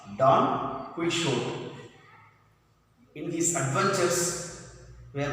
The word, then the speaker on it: Don Quixote: How to pronounce? Don Quixote.